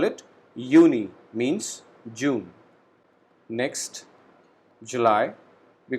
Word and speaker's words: Juni: J alphabet in German has the sound of Y. So we call it Juni, means June.